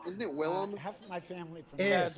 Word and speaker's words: Willem: William? I was wrong. Isn't it Willem? Half of my family Yes.